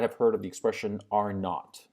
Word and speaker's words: R naught: heard of the expression R naught R naught is the it's the letter R with a subscript zero okay and it's pronounced are not because of British pronunciation but R naught is